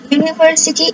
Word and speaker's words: university: University students. That means university, like pronounced like you.